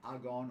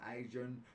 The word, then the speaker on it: AGON: I'm from Melbourne, Australia, and this has been my spin on 3 monitors, 31-inch AOC monitors from Agon or Agon, depending on how you pronounce it.